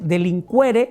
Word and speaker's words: delinquere: Se escribe delinquere con q u e. Nada más que aquí la u sí suena en latín. Entonces se se dice delincuquere, delinquence.